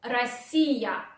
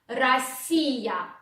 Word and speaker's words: Россия: Then O, which goes after R, you want to pronounce like A. So you say Россия, Россия, Россия.